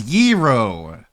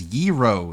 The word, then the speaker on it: gyro: The word is yro. The correct pronunciation of gyro, the food is yro. The G in the word is silent as it represents the Greek letter gamma.